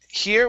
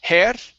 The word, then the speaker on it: her: very good and your last one is um her okay instead of hair it's her push the tongue down her good good all